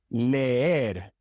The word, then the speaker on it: leer: Leer, leer. You have to pronounce both of the E's. Leer. It is not leer or ler. No, it is leer.